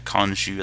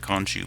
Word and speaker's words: Khonshu: Got the Khonshu, I think is how you say that, Khonshu build.